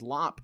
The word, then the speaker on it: Lop: The rabbit is Lop, and I've been saying it wrong.